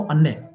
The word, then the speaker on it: अन्य: क्या है, ये इसका कैसे आप प्रोनाउंस करेंगे इसको? अन्य, अन्य मतलब आई, अदर, अन्य, अन्य, आई, और अन्य, आई नहीं, अन्य, अन्य, अन्य मीन्स अदर,